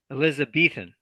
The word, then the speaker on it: Elizabethan: Elizabethan. Elizabethan. Yeah, there's a strong B sound in that word.